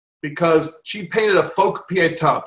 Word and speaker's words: Pietà: J, because she painted a folk pietà. Pietà is like the mother with the dead son.